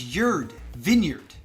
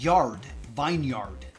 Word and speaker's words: vineyard: think it's an e because it's yurd Vineyard not yard Vineyard granted I understand the